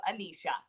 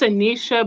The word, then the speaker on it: Anisha: i've been calling you amnesia it's not my nickname and then you see it huh it's anisha but my nickname is nisha or you can call